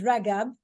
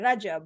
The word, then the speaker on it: Ragab: Her last name is Ragab, which is the Egyptian way of saying the G in the Arabic alphabet. So if I was to pronounce her name, it will be Amira Rajab with a J. But in the beautiful Egyptian dialect, the G is a G.